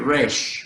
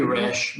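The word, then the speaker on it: ריש: oh yeah cool rush this is going to be raish a it could be rash but it's more more like a long a sound race okay great okay that um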